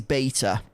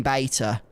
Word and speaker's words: beta: out but you know the british pronunciation of that word is beta it just is it's never been beta but every time i